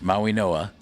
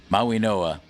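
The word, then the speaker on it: Mauigoa: the Miami Hurricanes, we learned officially how to pronounce their tackle's name, and it's Francis Maui Noah, despite the fact that his name is spelled M A U I G O A. Maui Noah.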